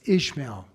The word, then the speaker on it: Izmail: It's Ishmael, but they spell it Izmail.